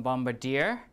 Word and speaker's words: bombardier: have the stress elsewhere as in bombardier the stress is on deer and last one bombastic